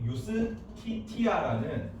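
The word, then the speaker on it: Iustitia: 스트요 저스티스란 단어는 서양의 유스티티아 유스티티아 여신 이름에서 왔습니다 그제가 라틴어 발음으로는 y 발이 나거든 예수가 지저스 지저스를 y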